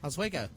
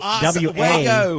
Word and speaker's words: Oswego: Oswego. Hey, he did it. He reverted. That's nailed it. That's an O-Z-W. Oswego. No, Oswego.